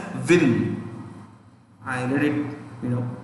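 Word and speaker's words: Nguyen: u y e n we write this as n g u y e n but pronounced as vin i read it you know it's w-i-n when you pronounce when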